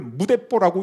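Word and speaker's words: 無鉄砲: 이때 일본에서 새로 나온 신조어, 한문으로 무철포, 그걸 무대뽀라고 읽는다 그럽니다.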